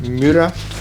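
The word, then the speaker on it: Miura: all Lamborghinis and I've never known how to pronounce this mura mura you are looking at Julian's pronunciation guys pronunciation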